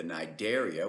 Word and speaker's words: Cnidaria: are the sponges, the Cnidaria, which refer to the gelatinous stinging organisms, and the Ctenophora, the comb jellies. The C is silent on both of those phyla.